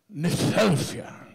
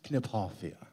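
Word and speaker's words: Kniphofia: it's to be pronounced gipoia and that's absolutely true if it's named after a person you use even the regional pronunciation of his name so it's Foria sorry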